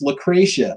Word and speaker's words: Lucrecia: It's Lucretia. Lucretia. Let me explain. Lucrecia, I pronounce it Lucrecia because there's a story we read in my Spanish class that's spelled exactly like her name. So I'm pronouncing it like the story pronounces it.